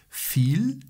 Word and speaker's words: viel: Viel Glück. Viel, wiadomo, się E nie wymawia, jest po prostu długie I.